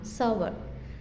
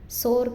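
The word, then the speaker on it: sour: Next புளிப்பாக இருக்கிறத என்ன சொல்லுவோம் அப்படின்னா சவர். சோர் கிடையாது, சவர் அப்படின்னு நம்ம ப்ரொனவுன்ஸ் பண்ணலாம்.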